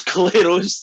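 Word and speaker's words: Clairaut: there's a lovely one claro's theorem yeah there's clero's theorem that's definitely not how you spell it but that's how you pronounce them friends should learn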